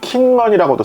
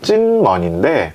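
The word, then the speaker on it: 金門: 이름에서 따왔는데 이제 영어로 쓰어 있는 걸 보면은 킹먼이라고도 써요 k m 이렇게 쓰기도 하는데 중국어 표준어 발음은 찐 먼데 그 당시만 해도 찐 발음을 잘 못 하는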